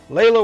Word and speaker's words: Leila: Everybody else is like Leela, because it's spelled like Sheila, but, yeah.